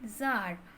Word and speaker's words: Tsar: It once occurred to a certain Tsar, TSAR, এই উচ্চারণ হয় জার, রাশিয়ার রাজাতে জার বলা হয়।